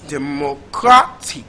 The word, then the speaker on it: democratic: So the syllable with the primary stress is the third syllable. So it's democratic.